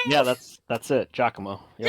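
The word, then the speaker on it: Giacomo: right actually is like yeah that's that's it jockamo it's I have been it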